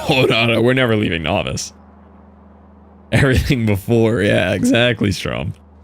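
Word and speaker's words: Nauvis: Yeah, it was also called novice in 1.0, which is spelled like this, but it's very clearly this. Although, I think they say it like Navvice, so maybe it's some weird check thing.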